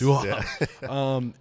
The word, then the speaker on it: Viaud: Viaud, yes. Viaud.